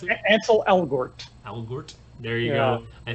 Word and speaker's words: Ansel Elgort: So how do you pronounce it? Ansel Elgort.